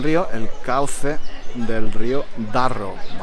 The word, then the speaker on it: Darro: el cauce del río Darro, con dos R's, muy difícil de pronunciar, Darro.